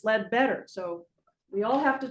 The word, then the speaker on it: Ledbetter: It was known as the Ledbetter House because the Ledbetters had been renting it. And notice how I pronounce Ledbetter. So everyone here thinks it's the Leadbeater Apothecary.